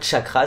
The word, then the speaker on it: chakra: un chakra ou un cha cra si on utilise la prononciation sanskrit car le mot chakra